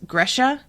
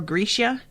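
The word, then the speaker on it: Grisha: to pronounce certain things gresha is um or grecia depending on how the narrator felt like saying it um is the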